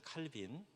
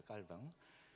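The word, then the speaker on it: Calvin: 곳이지 않습니까 여러분이 아시는 칼빈 불어 식으로 발음하면 칼입니다 깔뱅 그분이 프랑스 사람인데요 스위스에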